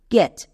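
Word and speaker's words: catch: শব্দের শেষে যদি টি সিএইচ দেখতে পাই আমি একসঙ্গে চো বসিয়ে দেব। যেমন এক্সাম্পল দেখো ক্যাচ। এবার এখানে দেখো শব্দের শেষে কি আছে? টি সিএইচ। এখানে টি এর জন্য চো হবে। টো কিন্তু হবে না। কারণ এক্ষুনি নিয়মে বলে আসলাম টি সিএইচ থাকলে চো বসাবো। টি এর জন্য চো এবং সিএইচ সাইলেন্ট।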